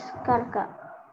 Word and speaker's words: cerca: The near is in Spanish is cerca.